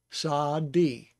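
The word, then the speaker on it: צדי: So it's Sa, A sound because of the Patak, Sa-di, Sadi.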